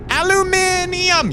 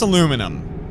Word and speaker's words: aluminum: Okay, but how do you pronounce aluminum? Aluminum is the way that it's spelled without any extra letters.